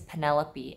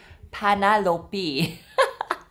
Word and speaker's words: Penelope: her real name is Penelope and she can't pronounce it her Korean accent will not allow her to pronounce it so she was panop it was Penny's 100th